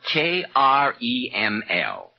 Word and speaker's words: Kreml: It's spelled K-R-E-M-L.